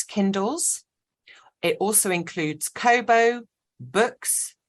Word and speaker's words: BOOX: It also includes Kobo, Books, that's spelt with an X, so BOOX, and Nook.